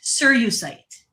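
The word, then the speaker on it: cerussite: It's called sir sirite s serusite sirusite that's how you pronounce it sirite it's s e r u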